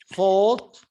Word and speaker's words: fought: The Palestinians fought for the British. Fought. The G is silent and the H is silent.